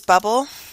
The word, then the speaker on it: bubbl.us: I use bubbl.us (pronounced like bubble.)